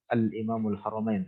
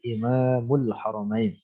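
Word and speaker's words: إمام الحرمين: Haramain digelar bagi beliau Jadi dibacanya gitu Imam al-haramain Bukan al-imamul haromain tapi Imamul haromain yaitu Abdul Malik IBN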